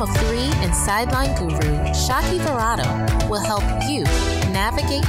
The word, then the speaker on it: Shaki: Shaki here, the one that rhymes with hockey, and it's short for Shakira, like the singer.